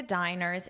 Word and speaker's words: diner: Now, let's review the pronunciation of this, because don't confuse it with breakfast, lunch, dinner, dinner. This is not the same pronunciation or the same meaning. This is the word diner, diner.